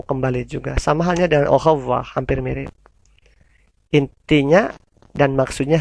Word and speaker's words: au revoir: AU dibaca O, OI dibaca OA. Berarti au revoir. Au revoir.